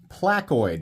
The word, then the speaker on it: Placoid: This is the Civivi Placoid, which apparently is how you pronounce that.